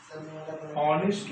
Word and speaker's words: honest: पे वो ही इज honest boy. Here we are seeing that he is a subject, is an honest boy. हम जानते हैं यहाँ पे एन क्यों लगा है? Because H is silent here.